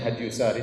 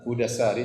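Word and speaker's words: هدى الساري: Sebagian orang bacanya Hadyusari, tetapi yang benar Hudasari sebagaimana ditasykil diberi harakat langsung oleh Ibnu Hajar rahimahullah, penulis buku.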